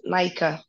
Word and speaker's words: Nika: Is it Nika? Yes, Nika. Well pronounced, thank you.